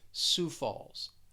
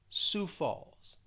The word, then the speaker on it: Sioux Falls: sioux falls this is one where the the pronunciation just does not match up with the spelling it's almost like you have a silent i and o and x but just listening to me say it it's pretty simple it's pretty easy sioux falls sioux falls next is the